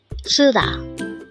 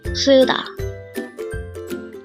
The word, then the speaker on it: 쓰다: word number 327 sud this is pronounced as a two syllable word the first syllable is Su second syllable is Da pronounce it with me suda suda the word suda is